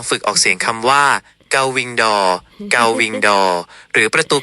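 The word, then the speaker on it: gull-wing door: ที่ สุด อีก ครั้ง ถึง แม้ ว่า โกวิงดอร จะ สื่อ สาร ได้ แต่ ถ้า อยาก ออก เสียง ให้ ตรง กับ ต้น ฉบับ ภาษา อังกฤษ เป๊ะ ๆ คือ เกาวิงดอ เกาวิงดอ ครับ เกา เกา ออก เสียง คล้าย กัน แต่ มี เสียง โล แอ ที่ ปลาย ลิ้น เบา วิ ออก เสียง เหมือน วิ ที่ แปล ว่า ปีก ดอก เสียง เหมือน ดวง ไม่ ต้อง อ่ะ อีก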